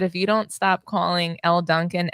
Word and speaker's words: Elle Duncan: All I know is that if you don't stop calling Elle Duncan Ella Duncan, I'm gonna lose it.